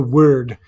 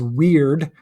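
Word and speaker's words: wyrd: And that is the word. Uh this word gets translated and and and pronounced as weird all of the time because of the Y. But the Y actually makes a short U sound.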